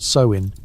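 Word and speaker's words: Samhain: Sam Hayne, pronounced so in.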